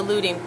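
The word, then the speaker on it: luting: show you about the looting thing the looting is another is actually the professional way of saying that you're smooching it together and loot is spelled lut ing and the word no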